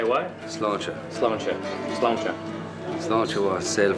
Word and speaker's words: Sláinte: Sláinte wa sail fada es bossin Aaron.